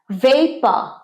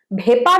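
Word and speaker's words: vapour: ভেপা, বাষ্প, জল যখন ফুটে বাষ্পীভূত হয়, বাষ্প। ভেপার বলি, ভেপার ভুল উচ্চারণ, অনেকেই তোমরা ভেপার বলো। ভেপা, ভেপা, ভেপা। আজ থেকে কিন্তু আর ভেপার নয়, ভেপা, ভেপা।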